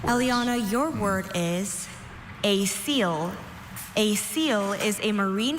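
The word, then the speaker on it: coel: A seal. A seal. Are there any alternate pronunciations?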